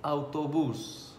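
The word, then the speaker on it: autobús: Autobus, A-U-T-O-B-U-S. Again, there is an accent on you, that is autobus.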